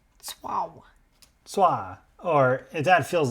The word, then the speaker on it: Tso: The closest approximation is something like swa or swa, one syllable. The ts like the end of the word cats, followed by an aw sound. Tswao.